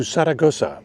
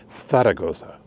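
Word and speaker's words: Zaragoza: as we go to to Saragoa or as they would say Tharagoa with two Z's which they pronounce like th's in English.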